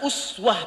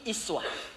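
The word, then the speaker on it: أسوة: Nah, teman-teman yang ngaji qiraat, itu uswah bisa dibaca dengan dua cara. Bisa uswah pakai dhammah u. Bisa pakai kasrah i, iswah.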